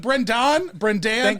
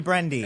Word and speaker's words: Brendon: Brendon, I like you because is it Brendon? It's an O. It's an O. But what is your preferred pronunciation? you know, like Brendy? Do people call you Brendy? No, do not call me Brendy.